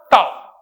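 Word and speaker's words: tau: इस सिंबल को क्या प्रोनाउंस करते हैं बोलो बेटा? टाउ।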